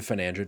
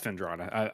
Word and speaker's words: Fendrana: I can't speak to Fenandra Drifts, so that's gonna have to be a cog in chat thing. You can't even say it correctly, but you're good. What is it? It's Fendrana.